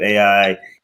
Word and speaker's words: Ai: And also Ai in Jericho or or um Ai and Yeah. Well, there's other cities there. Let me let me correct you because I was corrected in my pronunciation. It's pronounced I.